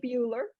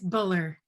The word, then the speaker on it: Buller: Then we have Kelly Bueller. Did I pronounce that right, Kelly? It's Buller, like bull.